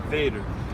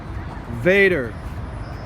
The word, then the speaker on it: Vader: Petersburg super dope super dope vehicles how do you pronounce that Bader Vader Vader that's right these things are sweet